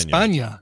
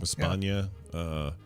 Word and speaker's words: España: That N with a little tilde is pronounced nya.